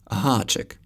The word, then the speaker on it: háček: The Czech name for Karen is háček. As you can see, háček is spelled with a háček.